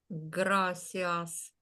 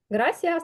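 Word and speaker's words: gracias: прекрасно гра так так грасіас Ти правильно прочитала і правильно помилилася потім чому Бо Ось ця літера яка схожа на нашу с читається по-різному грас читається оця літера перед і завжди як наша с граасце Дякую Отже в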